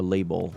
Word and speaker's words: Label: I think it's pronounced like labeling or label, you know, without the ing.